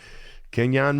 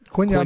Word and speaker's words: Quinyon: Kenyon Mitchell. How about that? Is that how you pronounce the first name? Quinyon Mitchell. Sorry about that, Quinyon.